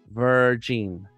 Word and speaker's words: Virgin: Her last name is pronounced Virgin. Virgin. Virgin.